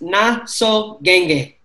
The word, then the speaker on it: Nasoqeqe: We got Nasoqeqe. Bula, brother. Bula, bula. What up? How you say the last name again, Nate? It's Nasoqeqe.